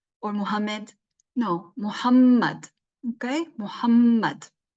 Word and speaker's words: Muhammad: is not Muhammad or Muhammad no Muhammad okay Muhammad say his name correctly and then after the